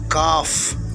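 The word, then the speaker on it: כ: இப்போது நீங்கள் பார்த்து கொண்டு இருப்பது எபிரேய எழுத்துக்களின் 11வது எழுத்தாகிய காஃப். காஃப். காஃபுடைய வேல்யூ 20. காஃபுடைய எண் மதிப்பு 20. காஃபுடைய சவுண்ட் கே வரிசை.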